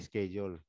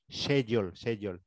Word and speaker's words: schedule: Of staff for training as per training schedule. You know the British, they call it, they pronounce it as schedule, but the Filipinos, they pronounce it as schedule, okay? Schedule. The British schedule.